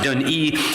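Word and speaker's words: Dùn Ì: And as you look at it here, it looks like Dun-1, but basically it's pronounced Dun-E, and it is the tallest point in Iona at 330 feet.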